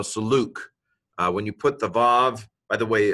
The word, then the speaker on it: vav: When you put the vav, by the way, vav could be pronounced wow, but I'm going to go with vav because that's the way modern Hebrew pronounce it.